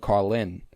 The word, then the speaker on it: Carlin: And then he comes on screen and goes, I'm Doug Carlin. And like there's an emphasis on the Lin that I really love.